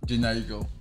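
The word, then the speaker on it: Jhené Aiko: Jenny Aiko.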